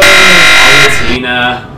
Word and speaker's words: Palutena: Palutena. I didn't know how to pronounce till the Uprising trailers. I called her Palutena until then. Palutena. It's like evolution, but it's, yeah.